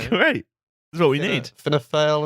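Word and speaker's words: Fianna Fáil: that's what we need F fail and fin Gale it's fan fail isn't it yeah I still I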